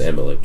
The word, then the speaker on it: Amalek: Amalek? Amalek. It's just Amalek, yeah. I Yeah. wanted to say Elimelech, They were, but it's Amalek.